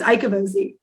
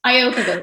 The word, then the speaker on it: Iocovozzi: But it's Iocovozzi, actually, is how you say it. Close. Iocovozzi. I mean, I feel like you were giving it like an Italian accent, sort of.